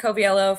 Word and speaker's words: Coviello: Koviello for those. It's gets my name gets butchered all the time.